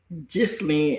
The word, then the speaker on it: Ghislaine: They said the name is pronounced Ghislaine in French, and that's the way she pronounced hers too.